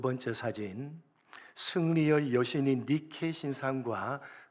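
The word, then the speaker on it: Nike: 여신입니다 세계적인 스포츠 브랜드인 나이키 아시죠 여러분 나이키 나이키가 바로이 승리의 여신이 니케의 이름을 영어식으로 발음을 해서 만든 것입니다 승리를 상징하는 나이키이 니라는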